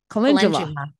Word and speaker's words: calendula: one Marigold or calendula calendula the DU means ja okay calendula yeah it sounds like